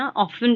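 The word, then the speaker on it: often: उसको ऑफ्टन नहीं है, ऑफन प्रोनाउंस किया जाता है।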